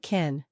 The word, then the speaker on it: kiln: It sounded like kin. Many students thought it meant family. So we need to know that kiln means a special oven for pottery. This way, the pronunciation will not trick us.